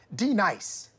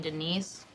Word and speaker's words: Denise: my wrath now dee-nice do you mean Denise you say your name right right now Denise say right Danine correctly Denise like Denise right be nice that's better thank you